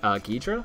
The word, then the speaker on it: Ghidra: Can you link Ghidra?